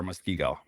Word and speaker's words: Muskego: Yes, you are Muskego.